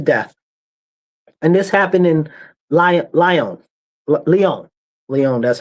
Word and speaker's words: Lyon: And this happened in Lyon.